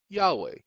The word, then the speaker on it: Yahweh: and stupid misguided people there may not be a j in the hebrew language but there is a y i.e yahweh that is the hebrew